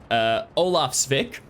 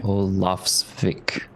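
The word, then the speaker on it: Ólafsvík: Olafsvik. Okay. I think it's I think no. Olafsvik. Olafsvik. Emphasis on the Olafsvik. O. Olafvik.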